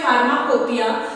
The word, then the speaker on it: pharmacopoeia: फार्माकोपिया, इसकी pronunciation है फार्माकोपिया, लेकिन इसके स्पेलिंग में आप लोग ध्यान दीजिए, PHARMACOPO, फार्माकोपोइया। स्पेलिंग में इसकी POEIA है, लेकिन इसको पढ़ने में जो हम इसकी प्रोनाउंसिएशन करते हैं दैट इज फार्माकोपिया।